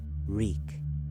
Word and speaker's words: Reek: Reek, Reek, it rhymes with weak.